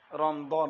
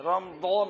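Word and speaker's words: رمضان: রমজান বলে।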